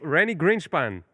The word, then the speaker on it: רני גרינשפן: So Renie Grinchpan.